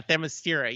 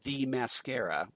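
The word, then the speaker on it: Themyscira: no yeah yeah yeah thermostira yes and uh and yes i i love that but he pronounced it as the mascara yeah the mascara and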